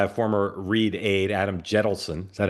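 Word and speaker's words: Jentleson: hometown, started by a former Reid aide, Adam Jettleson. Is that how you pronounce his name, Dan?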